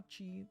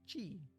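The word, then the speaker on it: ち: Characters we are learning are Ta, Chi, Tsu, Te, and To. Yes. 2 exceptions here. First exception is Chi. Starts with C instead of T and adds a soft H sound.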